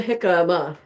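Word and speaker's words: jicama: If you What is a hikama?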